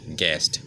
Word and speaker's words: guest: फाइ माने आवनो गैस GUEST गेस्ट okay आवनो GU करी उच्चारण ओ U नि उच्चारण हनिया इनके GES इनके मानो